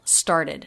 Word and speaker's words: started: a d started started the e d ending when it makes an extra syllable is always unstressed star did did so